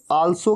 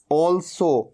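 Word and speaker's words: also: ऑल्सो, कई लोग इसे आल्सो कह देते हैं, आल्सो नहीं, क्या कहना है, ऑल्सो, ओ।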